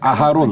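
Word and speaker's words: אהרן: 그래서 언약궤는 아론 하브릿이고 그리고 총명한 지혜로운 뜻을 가진 아론 아하론이라고 읽어야 될 텐데 어쨌든 네.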